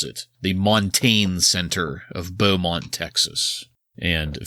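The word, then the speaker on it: Montagne: this correctly Montague Mont it's some kind of weird French name in Beaumont Texas isn't that a name for my Shakespeare Montague no montane maybe I think it might be montane is the correct way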